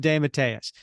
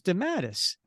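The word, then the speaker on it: DeMatteis: and I'll tell you so that's how he pronounced his name when he was on the show this is JM D Matas and when I said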